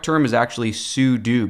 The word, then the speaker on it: sudo: some people pronounce it pseudo but I think the correct term is actually sudo because you're saying that you're like a super user and you want to